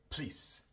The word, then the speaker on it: police: El schwa también tiende a desaparecer cuando viene en una sílaba no acentuada antes de L o R. Como en la palabra police. Police. No decimos police normalmente, sino simplemente please. Please. Omitimos el sonido de la O, que es el schwa.